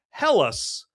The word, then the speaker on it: Helles: But yes, let's look at the beer for today and this is a helles lager beer. That's how you pronounce that.